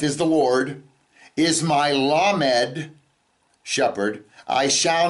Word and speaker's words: lamed: do we get well the word lamed is a letter it's also if you spell it the lamed M dollet can also be pronounced lamod and let's look at